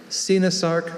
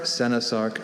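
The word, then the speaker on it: coenosarc: Sinasarc, Senasarc, Sinosarc.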